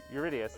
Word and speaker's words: Eurydice: Pronunciation, I'm bad. But, Orpheus and Eurydice? Eurydice? Eurydice, thank you.